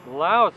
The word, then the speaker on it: Lao: the shortest names well Laos is tied for first place with several other countries but if you pronounce and spell it like they do here Lao for the loud people that's only three letters making Lao the shortest